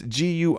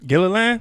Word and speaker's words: Guilfoyle: Her name is Kimberly excuse me, how do you pronounce this? Guilfoyle. It's Guilfoyle. Gilliland? Nah, man. Kimberly Guilfoyle.